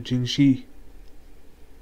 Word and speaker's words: Jinchi: stop the fire please that's the end of jingshi or jingi yeah jingi that's how you pronounced it got fireproof vessels oo got 2,000